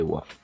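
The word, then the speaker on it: は: pour une phrase mais le deuxième mois watashi wa ça s'écrit mais on prononce voix pourquoi du comment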